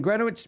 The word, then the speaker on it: Greenwich: It's pronounced Greenwich as in Grenwich.